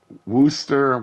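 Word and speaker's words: Worcester: can see the uh woster wer there's two different pronunciations for it whether you're American or uh British um I always call it War Chester so I'm not a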